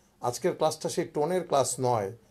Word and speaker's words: 你: যখন নি বলি তখন এটা থার্ড টোনে বলি নি মানে তুমি লায়